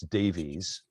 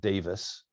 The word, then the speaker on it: Davies: I studied Aquinas with Brian Davis, and we would look at his name and we would think it's Davies, but he's Welsh. They pronounce it Davis, and he's a major Aquinas scholar.